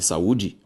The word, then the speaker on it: saúde: Quando eu falo em saúde, a sílaba tônica de saúde, u.